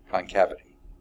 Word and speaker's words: concavity: if 'ti concavity concavity I always want to put an extra syllable and that doesn't belong concavity okay now to apply